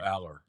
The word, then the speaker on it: Allar: How are we pronouncing his name? Drew Aller.